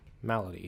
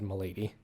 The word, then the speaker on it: Malady: Yeah, Malady is how you say that word. I almost said Malady.